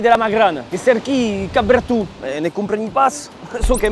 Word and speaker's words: Capberton: Per contro, che cau pronuncia Cap Bertu e non pas Cap Breton alla bretone o all'inglese, che Cap Bertu des plus segles.